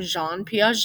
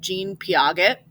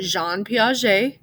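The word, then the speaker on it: Piaget: french guy that's why you say his name Jean P even though it's spelled like Jean Paget right but you say Jean P because he was French okay um so he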